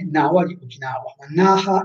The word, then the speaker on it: Naha: Esatto, cioè si potrebbe, in realtà è naha. Attenzione, se parliamo di Naha, la città, no. Se parliamo di Na con pronuncia allungata vicino a, è Nawa di Okinawa. Ma Naha è scritto con altri kanji, proprio con altri kanji.